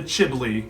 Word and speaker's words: chimbley: Then the Grinch very nimbly stuffed all the bags one by one up the chimbley. Chimbley. You didn't have to read it phonetically. Nimbly chimbly, I get it.